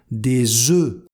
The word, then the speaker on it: œufs: Et attention au pluriel, la prononciation change. Des œufs.